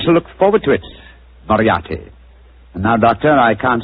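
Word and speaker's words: Moriarty: it or mispronounce it I'm afraid I'll have to begin calling it the way it looks m o r i a r t y mariati mariati I shall remember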